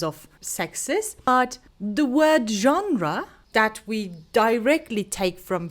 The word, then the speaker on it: genre: Lots of learners have a hard time saying this because it is derived from French. This is genre.